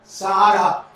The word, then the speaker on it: Sarah: English में आप ये लिखो, यस आर एच ए, इसको थोड़ा घुमाना है आपको, प्रोनाउंसिएशन ऐसा आएगा, सारा, सारा।